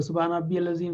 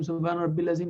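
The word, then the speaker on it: سبحان ربي العظيم: सुब्हान रब्बियल अज़ीम, सुब्हान रब्बिल अज़ीम नहीं, सुब्हान रब्बियल अज़ीम।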